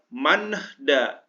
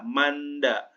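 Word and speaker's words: 많다: Kemudian manhda, nggak usah dibaca, hanya N-nya aja dibaca, manda.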